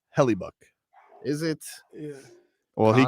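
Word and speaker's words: Hellebuyck: your numbers every year Kyle says it's pronounced heluk is it yeah well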